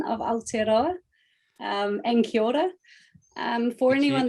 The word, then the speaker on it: Aotearoa: of new zealand um aotearoa is actually the the real name of new zealand um or the the real name the maori name um and it can